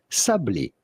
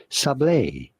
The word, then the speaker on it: sablé: How do you go about pronouncing them? In French, we would say sablé, sablé cookie. But it'd be fine in English to say sablé, sablé cookies.